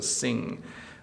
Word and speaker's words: sing: So sin just stops with the N sound, sin. But sing, there's an ing sound there, so sing.